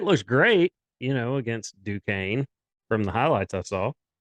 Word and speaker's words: Duquesne: the next day following last week's podcast uh duquesne yeah duquesne yeah i did not know that